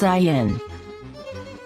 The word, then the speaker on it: Zayin: The letter we'll now see is Zayin. Zayin. Zayin. Zayin. has the Z sound.